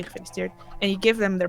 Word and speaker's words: gefeliciteerd: there's a few, but you mostly say gefeliciteerd.